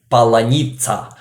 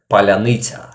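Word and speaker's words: паляниця: It is a big roundy bread we have in Ukraine, and Russians usually say palanitsa, but it pronounced like palyanita.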